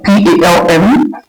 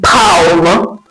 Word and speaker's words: palm: For example, in a word like palm, P-A-L-M, we have letter L here, but in its pronunciation, the L is actually silent. So rather than saying palm, we say palm, the palm of your hands, palm.